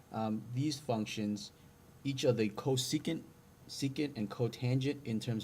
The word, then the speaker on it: cosecant: First is, this is pronounced cosecant. Okay, so this is pronounced cosecant.